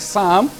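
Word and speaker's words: psalm: it's mute so the p in some you ignore it when you're pronouncing it so the word sound p s a l m the p is mute you have another one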